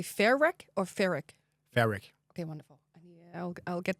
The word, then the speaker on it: Fairec: So would you say Fairec or Fairec?